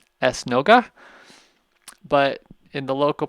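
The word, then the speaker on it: esnoga: curo now the Portuguese word for synagogue is es nooga es nooga but in the local pronunciation of Papo the drops out and so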